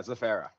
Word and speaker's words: Zaferra: Yeah, Zaferra.